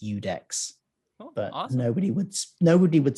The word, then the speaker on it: IUDEX: It's at IUDEX_Phil, which is pronounced Udex.